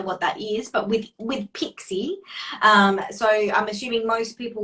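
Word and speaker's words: PICSI: Yeah, Pixie.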